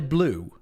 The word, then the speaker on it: bleu: You pronounce it like blue. You say Allez le bleu.